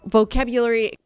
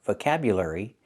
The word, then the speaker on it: vocabulary: The word is not pronounced vocabulary. It's not vocabulary. It's not. We don't use the sound like burger vocabulary. It's vocabulary. Vocabulary. We use the air sound like in hair and chair.